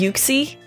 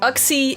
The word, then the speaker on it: Uxie: Uxie, maybe it's pronounced Uxie? That sounds kind of weird, but Uxie starts with a U, as in you, me, Mesprit, and us, Azelf.